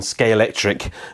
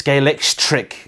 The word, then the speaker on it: Scalextric: as I was when scale tric got in touch in spite of the fact that I like nobody can pronounce the damn thing it's scalex trick I think is the correct way of doing it this